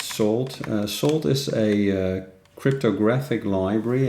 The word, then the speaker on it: Salt: So this is actually pronounced Salt.